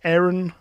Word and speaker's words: Aaron: we still have um is it Aaron or as the Americans pronounce it Aaron it annoys me um well I I